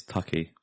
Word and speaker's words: Tucci: I think that's how you pronounce his name. I'm not entirely sure. It's Tucky. Is it? Mm-hmm. Tucky? I'm pretty sure it's Tucky.